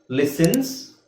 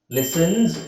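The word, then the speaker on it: listens: ಓದಬೇಕು my cousin ಲಿಸನ್ಸ್ ಇಲ್ಲಿ ಎಸ್ ನೀವು ಎಸ್ ಹಾಕಬೇಕು ಲಿಸನ್ಸ್ ಲಿಸನ್ಸ್ ಇದನ್ನು zಡ ಮಾಡಬೇಕು ಮೈ ಕಸಿನ್ಲಿಸನ್ಸ್ ಟುಮ್ ಮ್ಯೂಸಿಕ್ ಇದನ್ನು z ಮಾಡಕೊಳ್ಳಿ okay my cousin ಲಿಸನ್ಸ್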